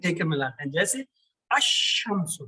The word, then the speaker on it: الشمس: کے ملاتے ہیں، جیسے الشمس، لیکن اس میں القمر میں لام کا تلفظ ہو رہا تھا، الشمس میں لام کا تلفظ ہی نہیں، لام کو کوئی لفٹ ہی نہیں کرا رہا، تو ڈاکٹر جو ہے